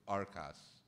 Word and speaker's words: Arcas: are by Santiago uh I always pronounce his last name incorrectly I believe it's arcas uh who is a